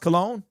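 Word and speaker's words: Colon: So, apparently his name is pronounced cologne um to possibly be our new center.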